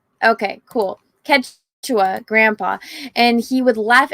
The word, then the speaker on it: Quechua: Greedo's dialect is similar to, I'm going to butcher this, Kyusha. So I took that to my Kyushu. How do you say this? Let's see. Pronunciation. Quechua. Okay, cool. Quechua, Grandpa.